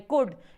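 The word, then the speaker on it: could: कि आप बोलते हैं कोड इसमें वैल्यू साइलेंट होता है सीओएल डिस्को क्या बोलना है कुड कुड बोलना है क्या बोलना है कोड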